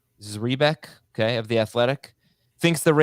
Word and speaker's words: Zrebiec: I believe it's Zrebiec, okay, of The Athletic, thinks the Ravens will manage the early season workloads for Dobbins and Edwards.